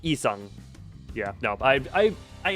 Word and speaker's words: Yi Sang: It's just not pronounced in Korean. I figured cuz I was trying to So it is more just like isang.